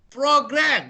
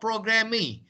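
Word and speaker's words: programme: Program. There's an ME at the end, but the pronunciation is program, not programming. Programming, not kilogrammy. The ME is not pronounced.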